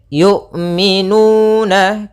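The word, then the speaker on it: يُؤْمِنُونَ: Kemudian yu'minu, hati-hati jangan sampai terbaca dengan jangan dibaca dengan ain. Sering juga terjadi kesalahan adalah membacanya dengan ain. Bagaimana cara melafalkan hamzah? Yaitu dari pangkal, makhrajnya adalah pangkal tenggorokan kita yang dekat dengan dada.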